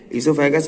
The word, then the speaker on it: ईसोफेगस: ईसोफेगस में ओ साइलेंट है, याद रखिएगा।